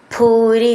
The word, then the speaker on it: ഭൂരി: ഭൂരി എന്നുള്ളതിൻ്റെ ഭൂന്ന് നന്നായിട്ട് ഊന്നി പറയണം.